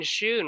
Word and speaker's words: Schoon: Ryan Schoon. Ryan, can you introduce yourself, Lore Master? Yeah. Hey guys, I'm Ryan, as he said, and it's actually Schoon, like school, Oh, but okay. it's really commonly mispronounced.